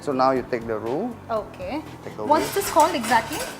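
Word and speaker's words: roux: now you take the room okay once this whole exactly yeah roo roo spell are 0 ux by u just pronounced as rude okay so that's a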